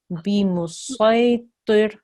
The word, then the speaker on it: بمسيطر: In this instance, or in this circumstance, we need to pronounce the sword, not the scene, which you did. So we had a thick sound there, so that was really good. So it's bimusaytir, and you did that.